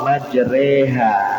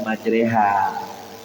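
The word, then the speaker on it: مجريها: Bismillah dengan menyebut nama Allah majreha. Nah, itu tulisannya majreha ya. Asalnya itu majraha ditulis dengan harakat fathah. Tapi cara membacanya imalah majreha dalam Al-Qur'an.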